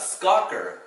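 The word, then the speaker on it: schokker: Here you have skokker, S-C-H-O-K-K-E-R.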